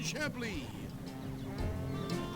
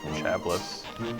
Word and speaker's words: Chablis: This bottle of fine Chablis. I even got a lucky mallet right here waiting for you. Surprised he pronounces Chablis like that instead of Chablis, as you know, comedic moments are wont to do.